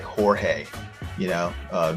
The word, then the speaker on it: Jorge: um, you know, the the the J is pronounced with a with an H sound like Jorge, you know, uh, J J O R G E. It's not George.